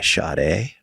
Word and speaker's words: Sade: For the record, that's pronounced Sada. But that's No, she says it's Sade.